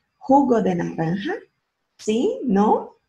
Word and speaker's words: jugo: Se acorda que o J em espanhol tem som de RR? Então vai ficar jugo de naranja.